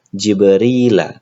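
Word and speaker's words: جبريلَ: Nah, bagaimana cara kita membaca Jibril? Kami membacanya sebagai Jibrila. Mengapa kita membaca Jibrila dengan fathah? Karena kata Jibrila sebenarnya adalah mudafun ilaih untuk kata thoriqi.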